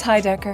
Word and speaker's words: Heidecker: Is it Heidecker? It's Heidecker.